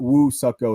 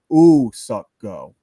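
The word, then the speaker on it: Woo-suk Go: Official pronunciation is not Woo Suck Go. It's Ooh Suck Go.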